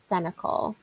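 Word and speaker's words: Sénécal: Or I might start 7 Days by Patrick Senecal. That's how you pronounce that.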